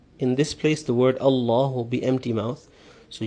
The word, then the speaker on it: Allah: first time is that when the word a law has a zebra or fish meaning a Fatah or a llama before it it will be pronounced emphatic or a full mouth but if it has a zero or a customer before it then it will be pronounced empty mouth as you've seen in